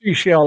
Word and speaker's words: Seychelles: You But said it's pronounced seashell like the shell on the beach.